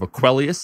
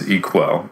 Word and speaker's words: Equel: had a username of Aquelius. Am I saying that right? I mean, you added a few syllables, but you got the center part right. So. Yeah. Equel? Yeah, it's Equel.